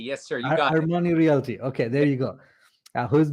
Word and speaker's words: Armani Realty: Am I pronouncing it? Armani Realty. Yes, sir. You got it. Armani Realty.